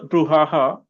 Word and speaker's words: brouhaha: Vishal, how many syllables are there? The three. Which is the stressed one? Brew.